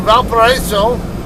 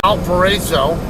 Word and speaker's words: Valparaiso: Well, I know everybody, I guess, probably calls it Valparaiso. But I believe it's a French word. And according to my wife, who does speak French, she says the French way to pronounce it would be Valparaiso.